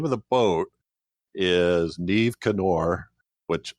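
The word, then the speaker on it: Niamh Cinn Óir: But the name of the boat is Neve Canor, which it's not spelled like that at all, but okay, that's how you pronounce it.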